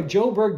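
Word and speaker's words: Sjoberg: the classroom i became a joburg distributor that's s-j-o-b-e-r-g is how that's pronounced and i was able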